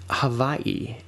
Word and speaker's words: Hawaii: Havaii is the way Hawaii is usually pronounced. that W even exists more as a V for a lot of native speakers.